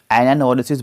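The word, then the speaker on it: anagnorisis: bye Aristotle to mean यहां पर जी silent है एनोसिस बोलते हैं इसको एरिस्टोटल ने इसको यूज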